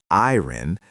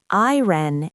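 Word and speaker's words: I人: When Chinese people say I-ren, they don't pronounce the I using the Chinese pinyin I. They pronounce it like the English letter, I. And the E in E-ren is pronounced like the English letter E.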